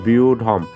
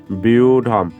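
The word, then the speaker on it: ব্যূঢ়ম্: কি জানি আমরা ম তাহলে বিউঢম এর উচ্চারণটা চলে আসতেছে বিউঢম পরবর্তী যে শব্দটি দেখতে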